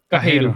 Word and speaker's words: Carreiro: and we've got um Carrero is that how you pronounce this kah kah pretends the is an H kah I have a hard time pronouncing that yeah Double R is an H in Brazil right how do you say